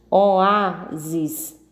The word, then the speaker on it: oásis: Oásis, 3 sílabas, oásis, e a sílaba tônica é o a.